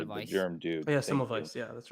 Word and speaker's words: Semmelweis: He should look into Samoes. I think that's how you say his name. Before we came up with germ theory, the guy that probably actually discovered germs before the germ dude. Oh, yeah, Semmelweis.